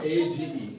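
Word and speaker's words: age: जैसे इस तरह से हमारे पास एग्जांपल्स है ए जीी ई एज क्या है एज एज एज एज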